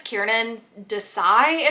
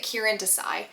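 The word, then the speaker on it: Kiran Desai: of Sonia and Sunny by, I think it's Kieran Desai is how you pronounce it. I have it on my TBR, let me see. Kieran. I think you pronounce it Kieran Desai.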